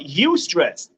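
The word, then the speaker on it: eustress: but it's one it's a thing called you stress it's spelled e-u-s-t-r-e-s-s you stress it is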